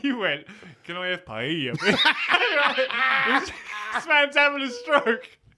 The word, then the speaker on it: paella: Paella? Oh, he does it. A paella. That's the correct pronunciation, Ryan.